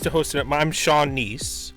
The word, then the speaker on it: Kneese: host it I'm Sean nice it's a nice silent k k n e e s e or you can call